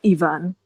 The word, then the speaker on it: Ivan: I still keep saying Ivan because it's the Russian pronunciation. I normally associate the name Ivan with the Russian pronunciation, which is Ivan.